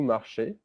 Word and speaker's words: marchez: Easy in French is pronounced E. So it's vous marchez, pronounced exactly the same way as the infinitive.